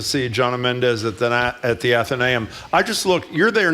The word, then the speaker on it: Athenaeum: And I've been mispronouncing it the whole time. Athenaeum.